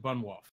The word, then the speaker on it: Bunwolph: Wait, I pronounced it with like a D. Is that correct or is it Bunwolph?